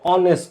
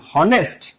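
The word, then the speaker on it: honest: তোমাদের এই নিয়ে তোমরা জানতে চাচ্ছিলে যে ভাই অনেস্ট ম্যান হুম।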